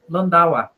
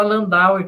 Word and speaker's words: Landauer: Antes da Marisabel falar, bom, já vou pronunciar para ela que se pronuncia Kurt Landauer, tá? Mas pode falar Landauer, que você não tem obrigação de saber alemão, tá bom?